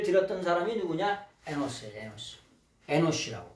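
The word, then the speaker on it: אנוש: 여러분, 셋이 누구를 낳냐면 에노시를 낳습니다. 우리나라 성경에는 에노스라고 표현되어 있죠. 에노스. 영어 성경을 거의 비슷하게 발음해가지고 에노스인데 정확한 원래 발음은 에노시예요.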